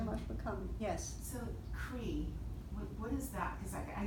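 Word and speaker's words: hrī: The way you see it, if you see it in books, it's H-R-I. How you pronounce it is Cree. So the C is not there.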